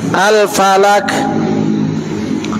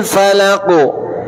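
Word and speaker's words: الفلق: Nah, kalau dia menggunakan huruf kaf, nanti seakan-akan antum membacanya seperti ini. Kan itu Al-Falak, Qul a'udzu birabbil falak. Padahal Qul a'udzu birabbil falaq terucap harus jelas.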